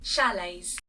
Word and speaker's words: chalets: Actually, how do you pronounce that? Shalets. That's how you pronounce shalets. Oh, yeah. That that's obvious. Oh, yeah. I swapped T and the L. Our accommodation options are cozy chalets and caravans.